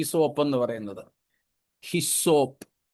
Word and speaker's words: ഹിസോപ്പ്: ഈ സോപ്പ് എന്ന് പറയുന്നത് ഹിസോപ്പ് സോപ്പ് എന്നൊരു ഉച്ചാരണം സോപ്പുമായിട്ട് ഒരു ബന്ധവും അതിനില്ല ഇന്നും ചിലരൊക്കെ അറിഞ്ഞുകൂടാത്ത പെന്തക്കോസ്തുകാര